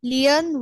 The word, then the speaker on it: Leon: যে প্রোনাউন্সিয়েশন হবে লিওন। Leon was a lazy lion.